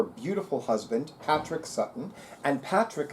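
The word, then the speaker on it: Padraic: husband Patrick Sutton and Patrick is spelled the Gaelic way capital P is in Paul a d as in Dom excuse me Diaz and Donald r-a-i-c as in Charles and she mentions her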